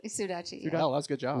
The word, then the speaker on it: Sudachi: Sudachi.